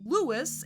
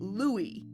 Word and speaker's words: Louis: old chum of his, Louis, and yeah, they go back and forth on the French and English pronunciations. Robert isn't Robert, except for one slip-up later in the episode, and Louis isn't Louis.